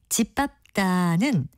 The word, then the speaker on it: 짓밟다: 그런데 이 중에서 제가 말한 동사 짓밟다는 진으로 발음하지 않고요. 짓으로 발음된다는 것을 보시면 지 밑에 니은 받침을 쓰지 않는다는 걸 확실하게 이해하실 겁니다.